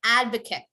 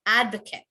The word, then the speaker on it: advocate: we all repeat that advocate correct advocate you would end on the t you would not say it as eight you want to end on the t advocate but if it's a